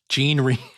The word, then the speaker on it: Jean Reno: Jean Reno. is how you actually pronounce it.